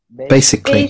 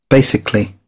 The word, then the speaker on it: basically: শিখবো আমরা যে কোনো কালির উচ্চারণ ইংলিশে কালি হয় না, হয়ে যায় ক্লি, ক্লি, ক্লি।